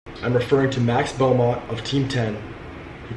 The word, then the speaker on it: Max Beaumont: His name is Max Beaumont.